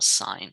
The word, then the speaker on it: sine: um this is from the greek word it's pronounced um sine okay sinus sine and then this is cos